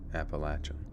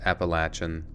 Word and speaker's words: Appalachian: see what we get I'm listening to this guy telling me how to say it appalachin all right he's saying it's Appalachian and that's saying Appalachia or Appalachian is like a metal Fork on a glass plate fine Appalachian we'll do it